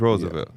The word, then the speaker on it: Roosevelt: phonetically yes if you just look at how it's spelled but like it's Roosevelt it literally is Roosevelt nobody's calling Theodore Roosevelt his name is the